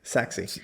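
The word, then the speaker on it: Sachse: S A C H S E Saxy.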